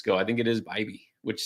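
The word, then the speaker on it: Bibee: I think it is Bibby, which sounds weird, doesn't it?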